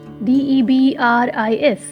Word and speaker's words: debris: DEBRIS. S is silent, it is debris.